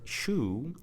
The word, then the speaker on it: shoe: So the word shoe is spelled S-H-O-E. So the combination of letters, which is OE, is pronounced as oo.